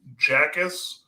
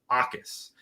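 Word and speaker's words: Jacas: I mean, the leading sack is a linebacker named Gabe Jackus, no idea. And then it's actually that initial J is silent, so it's Akis, which is a very interesting pronunciation.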